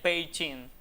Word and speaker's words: Beijing: La forma en pining de pronunciarlo de acuerdo con la lengua local sería más o menos, me perdonen los que sepan chino, sería peichin.